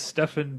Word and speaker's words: Stefan: seven which which one Neil is Neil apparently it's stephen Neil but it's Stefan barrios yeah you know the first name is spelled the same I don't know Steven